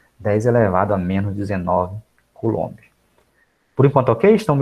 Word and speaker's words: Coulomb: A pronúncia certa é Coulomb, no LOM, a sílaba tônica.